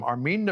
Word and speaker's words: Armin: were indoctrinated to hate Jews one of them Arman naabi said we yeah so he pronounced it properly so guys um because the